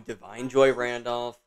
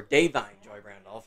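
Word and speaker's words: Da'Vine Joy Randolph: I do think, like always, this is going to go to Divine Joy Randolph, or Davine Joy Randolph, as I learned recently on how to pronounce her name.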